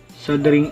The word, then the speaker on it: soldering: muna natin ang ating sing iron sabi ni Google silent L sing iron at pag mainit na